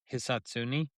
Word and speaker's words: Hisatsune: Hisatsune.